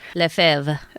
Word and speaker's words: Lefevre: Lefebvre. Okay. There we go. Thank you. A French pronunciation that Americans can't speak.